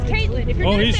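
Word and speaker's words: Kaitlyn: It's Caitlin.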